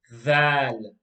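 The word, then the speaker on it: ذال: So the way that letter was pronounced was that the tip of the tongue touches the edge of the front two teeth. Tha. Exactly in the same way, letter dhal is pronounced as well.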